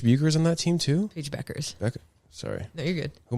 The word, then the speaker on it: Beckers: There is, but it's not how it's pronounced. It throws people off.